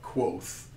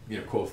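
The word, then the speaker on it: Kvothe: he's telling the story Say it's roughly pronounced like Quoth, like Quoth the Raven. Yeah. But roughly pronounced like. Yeah. I always read it as Kavoth, the way it's written,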